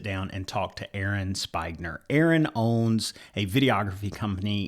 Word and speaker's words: Spigner: So Aaron, is it Spigner? Is that how you say it? It's Spigner.